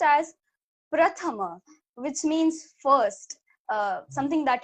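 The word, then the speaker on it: प्रथम: It was more like combined here, pra.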